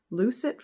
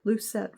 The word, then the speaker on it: lucet: Um I've also heard it pronounced lucet fork. Did I just say the same thing twice? Lucet fork, lucet fork. I don't know which one it is. I've heard both.